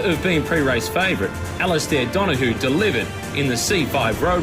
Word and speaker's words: Donohoe: It's To me, it's Donohoe. That's just Donohoe. how I've always pronounced it, how it's spelled.